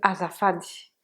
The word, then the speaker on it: azafady: première première utilisation de azafady azafady donc vous répéter à mahfad vous vous souvenez que toutes les lettres se prononcent telles qu'elles sont 1 c'est à dire